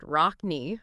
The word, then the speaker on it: Rocne: When we looked at the info from ISLK, learning about the producer, DJ Rockna, pronounced Rockny, apparently has this whole history in DJing, producing, rap, even break dancing and graffiti art.